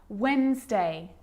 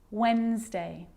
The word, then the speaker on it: Wednesday: letter D yep it can be silent too Wednesday handsome sandwich so I'm not pronouncing the D in Sandwich I'm just pronouncing the consonant n sound before it try it with me one more time Wednesday handsome sandwich and a D can be very